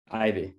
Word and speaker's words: Eyvy: Eyvy, am I getting that right? Eyvy. You can call me Eyvy. It's a fake name anyway, so it doesn't matter. Eyvy? Eyvy, yeah. Okay, good. like poison ivy.